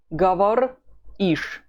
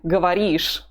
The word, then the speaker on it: говоришь: It's 3 letters again that we get rid of. Then we add ish. Ты говоришь. Ты говоришь.